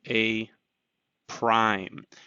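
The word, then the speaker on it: A′: actually an apostrophe um so a apostrophe that's pronounced as a prime that means um it's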